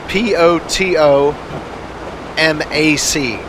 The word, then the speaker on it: Potomac: spelling of Potomac run it's poto ma c as in Pato Mac but pronounced Potomac it pains me to